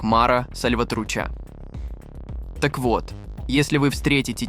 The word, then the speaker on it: Mara Salvatrucha: группировок во всём мире А название её читается как Мара сальватруча так вот если вы